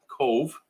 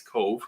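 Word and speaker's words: Cobh: So we're doing Cove, which is spelled C-O-B-H. And you're going to see a video where we say wrong the whole cruise or the whole vlog, but we eventually get it right. Yeah, we learned how to say it properly as we went throughout the day. It's Cove.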